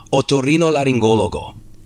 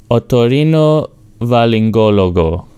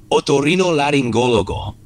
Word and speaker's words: otorrinolaringólogo: Primero, intenta pronunciar otorrinolaringólogo. Vale. Tortoport otorino Valingólogo. Ah, casi. Es otorrinolaringólogo. Intenta de nuevo enfocarte en la parte media de la palabra.